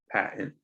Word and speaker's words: patent: a really hard one this tea will be weirdly silent or there will be sort of an empty zone patent patent all right so